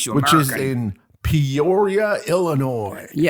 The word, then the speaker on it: Illinois: The Illinois Comic Con. You don't pronounce the S on the end. How long have you lived in the United States? Illinois ComicCon.